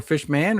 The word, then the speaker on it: Fishman: Oh, you call him fisherman or fish man or fishman. So, it's a combination of both. It's fishman, but I pronounce it fish like it's a last name.